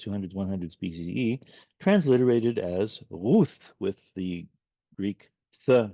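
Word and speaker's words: רות: So if you hear this in a synagogue being said or read or chanted, it'll be Rut. But linguistically, it was probably Ruth. And of course, in the English language, it's come in as Ruth.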